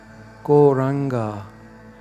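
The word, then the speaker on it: Gauranga: Goranga has full syllable. Go, ra, an, ga.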